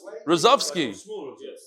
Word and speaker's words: Rozovsky: How do you pronounce it? Rozovsky.